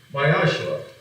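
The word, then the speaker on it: מעשר: It means tenth in Hebrew and is pronounced Mayashra.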